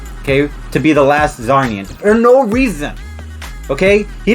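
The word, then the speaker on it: Czarnian: The last Zarnian, I believe.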